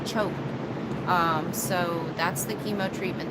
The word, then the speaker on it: CHOP: The chemo treatment that he's going to be doing is called CHOP. We thought it was sounded like chop, but I guess the way you pronounce it is choke.